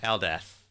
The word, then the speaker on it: Eldath: Eldath. It's pronounced Whistle. Yeah, no, Eldeth.